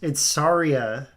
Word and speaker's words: Saria: No, Dork, it's Saria.